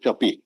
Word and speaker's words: Capi: within bracket English, and CAPI is pronounced Tapi, Tapi, Chapi yes.